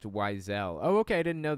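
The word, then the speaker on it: Wiesel: Thanks For Truth BTW weisel is pronounced wisel oh okay I didn't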